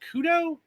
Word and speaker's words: Khud0: Joining us this week is Ivan Zlobin, also known as, I believe is that pronounced Khud0?